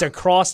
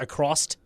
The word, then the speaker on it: across: Another one says it's across, not accrost. Don't know why. Go across the river? Yeah, like you're going across the river. I guess there's a pronunciation of a T at the end of across. No, I don't think. That'd be wrong. Accrost the river? No, that's that's wrong.